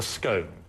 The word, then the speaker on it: scone: And what is this pronounced? It's called a scone, or if you're really pretentious, you can call it a scone.